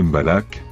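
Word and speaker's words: mbalax: Le malax prononcé mbalak, cette musique qui existe depuis le début de 1970 a été popularisée par Youssou N'Dour une dizaine d'années plus tard.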